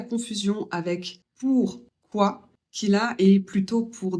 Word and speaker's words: pourquoi: i ça fait a commencez par ou et finissz par a ou et vous le dites plus vite celui-là sert à connaître